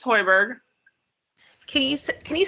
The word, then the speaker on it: Hoiberg: um what's your last name it's hoiberg can you can you spell that for me it's h-o-i-b-e-r-g thank you all